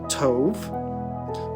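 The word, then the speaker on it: טוב: the Hebrew here is Tove which has a soft B and it's pronounced t o v so where we get the name Toby from for instance but Tove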